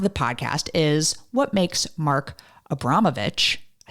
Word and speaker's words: Mark Abramovich: Well, the second half of the podcast is what makes Mark Abramovich, I said it right, a badass.